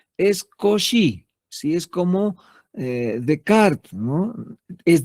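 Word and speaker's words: Descartes: Si es como Decart, no es descarte, se escribe, pero se pronuncia de cart.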